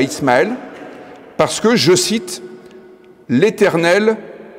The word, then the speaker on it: Ismaël: dans ce passage biblique le nom Ismal que l'on prononce en hébreu Ismaël est composé du mot